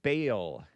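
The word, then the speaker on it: Baal: I pronounced it Bale. It's the English pronunciation or was.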